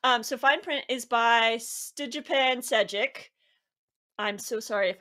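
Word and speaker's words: Stjepan: I think it's Stefan, by the way. I'm sorry. Oh! The J is silent. Yes. And then the P is an F. Sure, rather than P.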